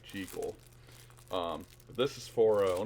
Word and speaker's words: Jekyll: And yes, I do pronounce it the proper way, Jekyll.